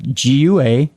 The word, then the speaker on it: Guajira: G-U-A-J-I-R-A.